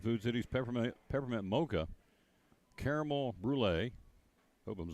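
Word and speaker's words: brûlée: They also are featuring at Starbucks inside of Food City's peppermint mocha, caramel brulee. Hope I'm saying it right. B-R-U-L-E, and a little thing on top of the second E. That's French. Brulee.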